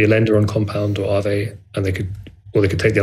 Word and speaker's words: Aave: I hope I pronounce it correctly. AAV.